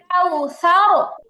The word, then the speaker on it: كوثر: إنا أعطيناك الكوثر কাউসার, সাথে তো টান হবে না, সাথে কোনোভাবেই টান হওয়ার কারণ নাই। আর রটা কি হবে? রটা যেটা সাকিন হয়ে গেছে, তাই না? ওয়াক্ফের কারণে এখন সাকিন হয়ে গেছে। র সাকিন তার ডানে জবর, তাহলে রটা মোটা হবে।